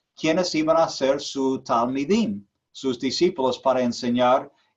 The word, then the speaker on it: Talmidim: Se escribe T-A-L-M-I-D-I-M.